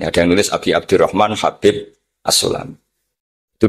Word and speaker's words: Habib: yang nulis Abi Abdurrahman Habib asulami itu di harakatnya kitab itu ada yang nulis hubb Yang benar Oh enggih yang benar itu bacanya habib habib itu Sulami itu